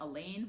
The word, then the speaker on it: Alain: this isn't over but Alain rhymes with pain he wants it to